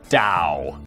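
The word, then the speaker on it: Tao: gentlemen," he says, addressing the small gathering of notable followers of the philosophical tradition of Dowoism, which is always confusing cuz it's spelled with a T, but it's pronounced Dao.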